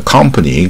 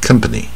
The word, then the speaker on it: company: 你不要念成卷舌的 company 那不对，它是不卷舌带耳音 company 啊，不是 company 啊。